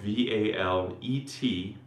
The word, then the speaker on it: valet: So yes, it's spelled v a l e t but the t is silent.